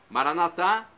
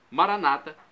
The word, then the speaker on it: Maranata: de Jesus o aramaico Maranata pronúncia dos católicos com a tônica na última sílaba Maranata pronúncia dos nossos irmãos separados os evangélicos ou Protestantes pronúncia da penúltima sílaba Maranata o significado é o